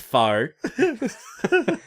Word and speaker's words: faux: Oh, that fox leather. It's pronounced faux.